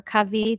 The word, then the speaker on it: Covey: And then I mentioned also Stephen Covey, or Covey, depending on how you pronounce it.